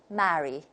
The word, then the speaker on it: marry: If we take RP, the British model, and we pronounce the three words very differently. Listen, Merry, the Merry Christmas. And then the second one is a marry. So we can see the difference. And then the third one, if it's a name, a diphthong occurs here, and we say Mary, Mary.